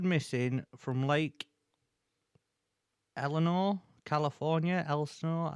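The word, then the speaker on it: Elsinore: Elsenor, I don't know how you say that. E L S I N O R E. I think it's Eleanor. The S is silent.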